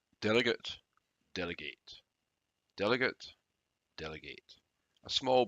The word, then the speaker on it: delegate: the first is that although the noun and the verb are written in exactly the same way they are pronounced differently the known is delegate the verb is delegate delegate delegate delegate delegate a